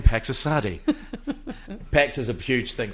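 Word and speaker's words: Pax Assadi: Pax Asadi, that's actually how you pronounce it.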